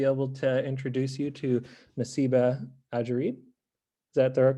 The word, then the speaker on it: Nassiba Adjerid: hi uh good afternoon uh my name is nasib ajarid and i am a professor at the college